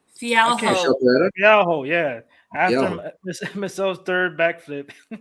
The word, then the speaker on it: Fialho: Fialho.